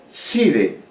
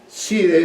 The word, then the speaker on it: Cide: Cide, Cide, creo que Cide es como si es señor, no estoy muy seguro. Cide es C-I-D-E, Cide.